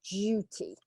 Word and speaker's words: duty: Yeah, it's a duty. Okay, so it's a U sound, not an U sound in English. DU, like duke, duty, due. Okay, DUE. All of those sounds are like that.